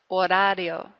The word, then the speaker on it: horario: Remember again, the H's in Spanish are absolutely silent. We don't say them at all, so leave those out. So I'm just starting really with this letter here. Hora. Horario. If you can roll your R's, that's where you give it one little flip.